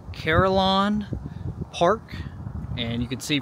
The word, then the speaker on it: Carillon: today I am at I believe it is pronounced carolon Park and you can see from the back